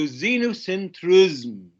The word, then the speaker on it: xenocentrism: is pronounced as xenu i know it begins with x but it is pronounced as a z so xenocentrism okay is the belief